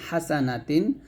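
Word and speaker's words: حسنات: চিকন করে উচ্চারণ করবেন হা জবর হা সিন জবর সা হাসা নুন জবর না হাসানা তা দুই জের তিন হাসানাতিন হাসানাতিন অর্থ হচ্ছে নেকি বা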